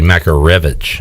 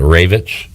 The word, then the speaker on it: Makarevich: by brandon manning that it's actually makarevich and not ravich rev like i thought he was going to